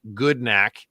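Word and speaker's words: Gudnak: So it says goodnack which is pronounced goodnack.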